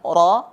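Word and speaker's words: ر: Jadi pengucapan ra bukan ya, bukan r, ya, tapi getarannya ada di gigi seri, ya. Ujung lidah pada posisi pangkal dua gigi seri. Ra. Dan pengucapannya sebisa mungkin tidak lebih dari 3 getaran.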